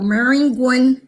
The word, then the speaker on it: Maringouin: I'm actually from a little town west of Baton Rouge called Maringouin, Louisiana. I'm going to spell it because as we move on along in our conversation, you're going to want to know about Maringouin.